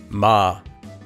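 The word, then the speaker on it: 마: This letter is similar to M such as in the word mom in English. If we combine it with our vowel ah, we can hear that this letter would become ma.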